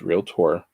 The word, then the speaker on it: Realtor: and years of being trained to say it incorrectly and being a southerner most of my life it's real tour i know it works